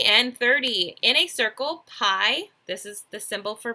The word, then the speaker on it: pi: answer right ok and 30 in a circle pie this is the symbol for pie and it's pronounced PI P i okay it's equivalent to